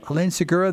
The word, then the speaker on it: Helene Segura: We are speaking with Helene Segura. Is that how it's pronounced? Yes, sir. Helene Segura, the author of The Inefficiency Assassin.